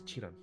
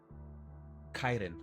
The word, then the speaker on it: chiton: What's a Chitan? I don't even know if that's how you say it. It might be Kaiden. Oh, it's a Greek wear. Okay. Actually did not know that. And it's pronounced Kaiden.